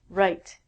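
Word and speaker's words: write: Next one is right. It has the exact same pronunciation as this, meaning your right hand.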